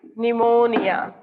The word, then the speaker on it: pneumonia: P is silent, as the P is silent in pneumonia.